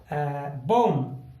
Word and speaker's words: bomb: बॉम, BOMB। एम के बाद बी आया फिर से, क्योंकि इन सभी एग्जाम्स में बी में के बाद एम के बाद बी आया हुआ है और बी को हम साइलेंट रखते हैं। तो BOM सिर्फ इतनी ही हम ध्वनि निकालेंगे। तो बॉम, बॉम मीन्स बॉम।